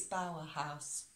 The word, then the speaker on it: Bower House: was speaking in person I got the name wrong uh it's Bauer house Bauer house in Romford